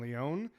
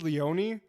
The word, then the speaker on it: Leone: directed by Damen Leon I think it's Leone um I think it is Leone because there's a chef on YouTube who I know his name is Bradley Leon and it's spelled the same way yeah I think Leon sounds better but Leone I think is the correct way of saying it I'm G to